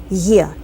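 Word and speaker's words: е: yes this is correct the letter e in Russian sounds this way like yeah yeah hey this letter has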